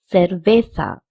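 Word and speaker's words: cerveza: In Spanish the ce pronunciation is not k but say or say. So we can say cervesa or cervesa because both c e and zed have the pronunciation of s.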